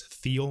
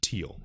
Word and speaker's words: Thiel: of the Don and I know his last name is feel but it's pronounced teal okay so again he